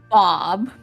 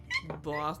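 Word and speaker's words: Boqub: The ghost inhabiting the giant mushroom body, whose name is Bob. Sure. But it's spelled B-O-Q-U-B. Bob. B-O-Q-U-B. But it's Bob.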